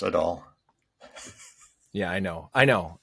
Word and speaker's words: Adol: land of east east i'm sorry it's pronounced at all yeah i know i